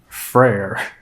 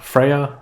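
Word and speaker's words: Freyr: freya's brother is called Freer not technically not exactly the same but uh but very similar freyer frer you I think you cut the syllable a little bit shorter and change the inflection that's how you pronounce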